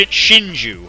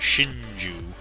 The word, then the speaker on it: Shinju: blue Shin yeah sh Shinju that's how you say it Shinju which means oh crud